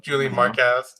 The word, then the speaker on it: Julian Marquez: that a catchweight bout julianne moore qez what's the point of that mispronunciation okay okay missing wait by for it was there it was the awkward pronunciation that's romantic as you're going for a movie about julian mark how's mark how's Julian Marquez yeah ver silesia de